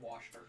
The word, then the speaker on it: Worcestershire: It's actually just pronounced Worcester.